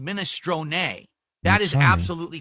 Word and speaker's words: minestrone: In Italian it's pronounced minestron.